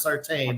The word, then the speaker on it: Sartain: That was actually, I got to give the track promoter at 81, JR Sartain, who's related to Jack Sarton, but if you come up here, it's pronounced Sartain.